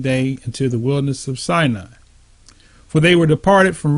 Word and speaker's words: Sinai: into the wilderness of Sinai, or it's Sinai, and that's how you pronounce that in Hebrew.